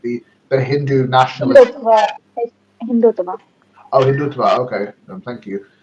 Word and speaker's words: Hindutva: I'm sorry if I'm mispronouncing that wrong. The Hindu nationalist. Hindutva, is Hindutva.